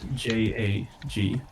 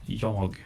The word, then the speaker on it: jag: And you spelled J A G. And the way I would pronounce that is Yog. Yep. Not Jag.